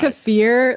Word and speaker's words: kefir: Kefir.